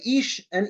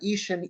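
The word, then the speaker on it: אישה: put it together right ish and Isha they sound the same the difference between them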